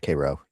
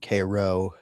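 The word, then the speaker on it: Karo: I think it's pronounced kro. K a r o less less tanic spice than you would expect.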